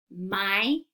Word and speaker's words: Mycenaean: This is how I want you to remember it. Mycenaean.